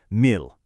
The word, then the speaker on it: mil: Thankfully, it is incredibly short and easy to pronounce, mil.